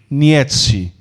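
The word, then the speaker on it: Nietzsche: Dentre eles, vamos falar sobre freu a pronúncia correta, é correta, Friedrich. Frederic Nietzi.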